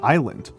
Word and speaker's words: island: debt is not um the B in debt and the P in receipts were not uh are not um and the S in isleisle and island are all things that were added to the words uh later in in our history, right? They are not from old English. uh those are old English derived words uh where the letters were added in in order to make the language look more Latiny uh during the 16th century.